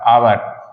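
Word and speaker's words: hour: मैंने कहा है कि जब एच के बाद ओ आता है तो हमारा कैसा होगा साइलेंट होगा चलिए एग्जांपल से समझते हैं जैसे मैंने कहा एग्जांपल में ए य आर आवर आवर मींस क्या होता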